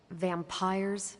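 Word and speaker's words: vampyres: Vampires with a Y. Pronounced exactly the same as vampires.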